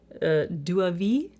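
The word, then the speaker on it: Deauville: Then in the center we have Duavie, spelled like Duville.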